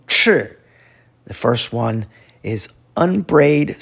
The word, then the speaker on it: 赤: The next sound form is fourth tone, 赤.